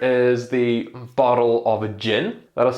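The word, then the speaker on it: djinn: A personal favorite is the bottle of a gin. That is spelled D-J-I-N-N.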